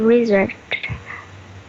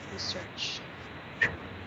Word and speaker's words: research: It's research. Research. It's an S sound. The S should be pronounced correct, clearly. I should hear the S sound.